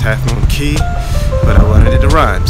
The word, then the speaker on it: Cay: Mike it's a beautiful day in Half Moon Cay it's actually pronounced having a key but I wanted it arrived so there it